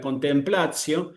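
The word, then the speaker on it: contemplatio: Aquí la se traduce como observación reflexiva, pero la contemplacio es la contemplación, ¿sí? Que también podemos asociar con el español y sabemos que el acento va a ir en la A.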